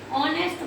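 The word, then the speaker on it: honest: Word ऑनेस्ट एम ऑनेस्ट इसमें देखिए H silent है। यहां पर एच साइलेंट इसका आवाज किसकी आ रही है? एच से शुरू है वर्ड लेकिन किसकी आ रही है? ओ की।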